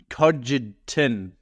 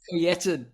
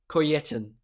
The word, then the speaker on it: Kojetin: It's Kojetin, but it's all good. All good. I think that's how it's pronounced because I've never met another one. Yeah, not the most common surname ever. How do you say your surname? Kojetin. The J's pronounced like a Y.